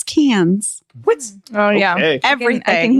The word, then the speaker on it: Cairns: It's not Carns. It's Cans.